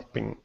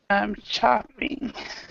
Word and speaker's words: shopping: shopping. No, you're saying what you're saying is um, chopping. Okay, so shopping. But the ch and sh it's a tiny little sound difference.